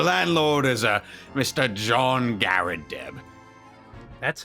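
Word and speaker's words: Garrideb: remember brightly the landlord is a mr john garadeb that's how you pronounce it okay guy deb all right well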